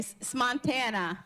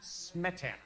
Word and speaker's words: Smetana: Smontana. Smetana. Smetana. You got it. Smetana. Okay. So I have been trying to practice it the wrong way. So, and it says on here, it rhymes with Montana.